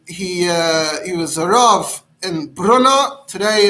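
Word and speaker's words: Brno: uh he was in bruno today it's uh in the moravia today that's in the czech republic today it's pronounced something like bruno and uh that's where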